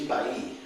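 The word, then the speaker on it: Balli: On my mother's side, she's Ba'i, and it's a name that is well known in the lower Rio Grande Valley.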